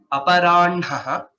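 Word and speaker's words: अपराह्णः: Aparanhaha, the special case of pronunciation which we discussed. N is pronounced first and next is ha.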